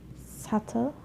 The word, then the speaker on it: subtle: For the letter B, I was silent when it follows the letter M. For the example, climb, crumb, lamb, thumb, jam, plumber. Climb, crumb, lamb, thumb, jam, plumber. So I'm not pronouncing the B, I'm just pronouncing the M consonant sound.